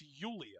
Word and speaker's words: Julia: including how Julia is pronounced. And it's Yulia.